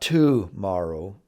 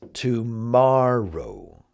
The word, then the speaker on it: tomorrow: It's not tomorrow, it's tomorrow. Tomorrow. And so we'll do that across all of our vocabulary lessons from now on to help you know which syllable you should emphasize.